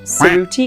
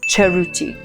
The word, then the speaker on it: Cerruti: So remember, it's not Cerruti, it's Cerruti.